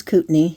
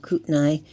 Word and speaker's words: Kootenai: And this is Kootenai. That's how we pronounce it, not Kootenay.